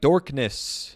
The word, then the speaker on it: Dolkness: Yeah, but they pronounce it like Dorkness.